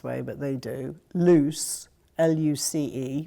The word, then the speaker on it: Luce: but they do loose luc e which of course is Luce that Footloose no lose and they actually make